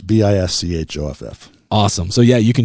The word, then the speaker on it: Bischoff: on Spotify under Bischoff. why don't you spell your last name? It's kind of like the cookie you get on Delta Airlines.